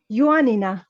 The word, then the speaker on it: Ioannina: yuan ioannina yuanina i i just checked it on internet to find the greek pronunciation because in ottoman documents we call it yanya so it has it it's written as yanya so i would i would say that's what i'd say i wouldn't say iranian i would say myself okay then it's close is closer than the english pronunciation yeah um so actually